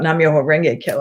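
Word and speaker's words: Nam-myoho-renge-kyo: I don't want to say it how do you pronounce it again? Nam-myoho Renge Kyo.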